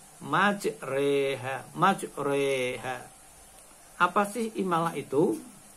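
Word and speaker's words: مجريها: ayat 41 Hai dimana tertulis majroha tetapi harus dibaca imalah majreha majreha apa sih malah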